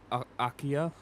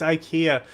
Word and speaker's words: IKEA: Um, but yeah, like the these I think they're called AKA, I think is how you say it. They're abandoned just abandoned properties. IKEA. It's IKEA.